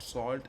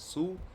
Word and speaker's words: Sault: This is not salt, it's pronounced as Sue.